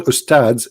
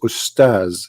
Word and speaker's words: Ustaz: Even they don't know even how to say the word because the word Ustads is not correct in the way they say it. The word in Arabic is Ustaz, which means a master, teacher.